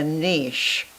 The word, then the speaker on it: niche: Well, most people who are successful, wildly successful on eBay, have what's called a niche, or some people pronounce it niche.